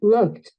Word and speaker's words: looked: Entonces, cuando tú quieres pronunciar esa ed, debes emitir un sonido de T. Vamos a mirar, en este caso, cómo suena. looked, Looked, looked, looked.